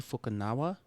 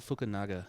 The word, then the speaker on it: Fukunaga: This is directed by Kari Joji Fukunawa. Cool. I still haven't seen it yet, but I'm really impressed you pronounced that. Yeah, that was I don't know very if it's good. right, but good job. Fukunaga.